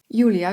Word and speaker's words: Julia: Julia w języku hiszpańskim zapisuje się tak samo, ale wymawia się inaczej.